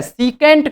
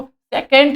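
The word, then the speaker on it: secant: सीकेंट कहा जाता है। सीकेंट कहा जाता है। इसको सेकेंट भी बोलते हैं। ठीक है, इसका सही प्रोनाउंसिएशन सीकेंट होता है। क्या होता है? सीकेंट।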